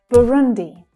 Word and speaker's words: Burundi: Burundi, Burundi. So we hear the as in book vowel sound there. Burundi. We hear it twice actually. Burun, Burun. The second syllable is the stressed syllable though.